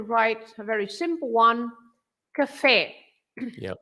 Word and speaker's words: café: So if you have that accent over the E, that means that you should say café. You don't say café, right? You say café. You stress the last part.